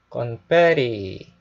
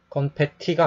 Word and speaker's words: confetti: 건페리. 예. 건페티가 아니고요. 건페리 해서 미국 사람들은 티를 알발음 하거든요.